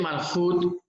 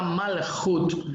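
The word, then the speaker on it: מלכות: Vamos a dar inicio entonces a esta yeshiva, clase 16 de la yeshiva Ora Ganush, y hoy vamos a hablar sobre el Malhut Shamayim.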